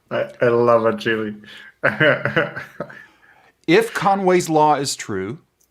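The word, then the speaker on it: Agilé: I'm going to call it Agili because they have the accent on the E. I love Agili.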